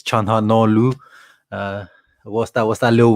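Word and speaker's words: Çalhanoğlu: his name probably properly so the g is silent in the no i i used to say charlo no glue but it's chanha no what's that what's that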